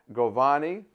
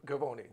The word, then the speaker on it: Govoni: uh my show today his name is goani did I say that right um gavoni gavoni I always say the last name wrong it's easy to get your first name